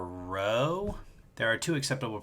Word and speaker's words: rho: You pronounce this letter rho.